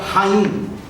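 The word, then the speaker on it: חיים: A vida é a palavra Haim, que se escreve com CH.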